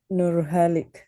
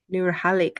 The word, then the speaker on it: Nalik: no component in there how do you say your name I'm sorry nalik nalik okay I got it okay um my question